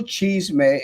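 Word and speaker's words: Cheezmeh: lot of individuals heads and the it's brownsville cheese may and it's spelled c-h-e-e-z-m-e-h because back then there was a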